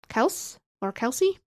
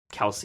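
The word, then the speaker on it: Kelce: Well, just to make it clear, people, the dad of the Kelsey brothers came into their podcast and said, our last name is actually pronounced Kels, but he got tired of correcting people over and over and over again because people just call him Kelsey.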